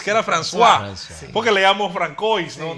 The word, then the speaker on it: François: Sí, después nos enseñaron que no era Francois, que era François.